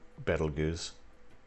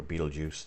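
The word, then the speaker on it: Betelgeuse: too far from uh battle goose or beetlejuice depending on how you want to pronounce it um yeah i'm terrible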